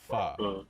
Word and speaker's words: pho: But in reality, the word is actually pronounced pho.